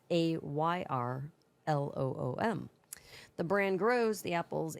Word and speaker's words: Ayrloom: Not spelled like heirloom, it's Ayrloom.